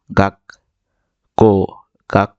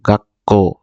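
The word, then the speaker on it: 学校: বর্ণটা ধরবে মূল বর্ণটাকে ধরবে তাহলে এটা আমরা উচ্চারণ করব গা ক কাক এটা যদি বড় থাকতো বড় ছু থাকতো তাহলে এটা উচ্চারিত হতো।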